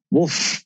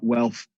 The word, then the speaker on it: WLTH: It's pronounced Wolf. No, it's pronounced Wealth. I've had some crackers when people have tried to. How do you say? Is it WLTH? Yeah, it's WLTH. Just drop the vowels.